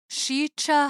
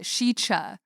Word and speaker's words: Sica: to talk about is shicha hollow is how you pronounce it shicha but it's spelled s-i-c-a okay so is it